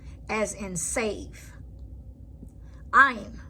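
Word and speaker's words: עין: Ayin. Ayin is a silent, like the letter Aleph, depending on it being a name or its position in a word.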